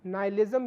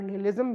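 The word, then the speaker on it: nihilism: संदर्भ में वे आधुनिक नाइलिज्म या विनाशवाद की अवधारणा को प्रस्तुत करते हैं। नीत्शे इस स्थिति को आधुनिक नाइलिज्म, जिसे कई बार निहिलिज्म भी प्रोनाउंस किया जाता है, उसे वो एक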